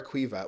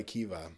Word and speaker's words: Caoimhe: We can do Kiva or Quiva. Where I'm from, Quiva. it's Quiva, but I think like Quiva. most of Ireland goes by Kiva.